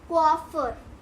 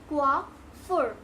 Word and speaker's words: coiffure: तो इसकी प्रोनाउंसिएशन भी यही है, but some people pronounce it like कोइफर, कोइफर, कोइफ्यूर, बट the correct pronunciation is coiffure, ठीक है, coiffure, coiffure, coiffure, ठीक है।